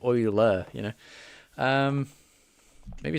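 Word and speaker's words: Euler: Uh my teacher pronounces oiler the same way as you do. How I how I feel like I'm pronouncing it the same way. Oiler. Like oil, right?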